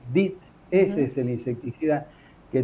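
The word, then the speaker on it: DEET: clínica la farmacia compramos bidones de dit se escribe d e t dit Ese es el insecticida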